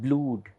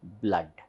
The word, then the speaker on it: blood: cut mud mud blo-d it's not blued but it is pronounced as blood next next vowel sound